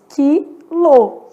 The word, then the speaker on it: quilo: o que que acontece quilo faço a transcrição eu percebi que eu tenho cinco letras e quatro fonemas na verdade esse U que apareceu na palavra quilo é